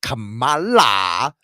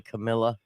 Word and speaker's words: Kamala: I can tell you, I'm not going to be like Kamala. I ain't going to be word salad. I always pronounce her name wrong. I always say Camilla.